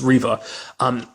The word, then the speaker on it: Reva: I keep saying with a B, like the country singer / actress, Reva McEntire. I kind of say it like that, but it's Reva.